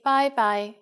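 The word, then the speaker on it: 拜拜: When it's time to leave, we say bye-bye for informal situations. And you are right, it's just like the English bye-bye with a Cantonese pronunciation.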